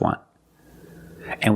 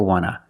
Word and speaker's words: want to: So we don't pronounce the T and we say wanna, wanna. I just want to eat. Want to or want to, you can pronounce it wanta or wanna. Both pronunciations are correct.